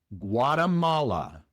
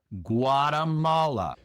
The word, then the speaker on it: Guatemala: La primera diferencia es que la G en inglés es mucho más grave, mucho más pronunciada. No es gua, gua gua como en español, sino gua. Gua es una g, más dura. G.